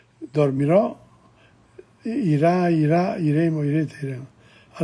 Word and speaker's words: dormirò: And notice the accent on the O and the I, dormirò, irà, iremo, irete, iremo.